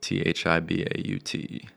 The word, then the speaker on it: Thibaut: But yeah, it's pronounced Thibaut, like Tim Tebow.